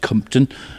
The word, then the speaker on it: Compton: That's Compton, but pronounced Compton.